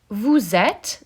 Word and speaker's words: êtes: Vous êtes, the final E is silent. Il or elle, sont, the final T is silent, and the N is nasally.